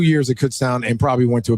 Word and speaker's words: Kutztown: Kutztown.